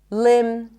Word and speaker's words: limb: When there is MB, especially at the end of words, the B is not pronounced. So in words like limb, climb, no B, bomb, no B, crumb, plumber, comb, there is no B whatsoever.